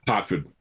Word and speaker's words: Herford: Although, because it's British, it's probably pronounced or something like that. Harford. Harford. Of course. Who doesn't pronounce an E as an A? Unbelievable.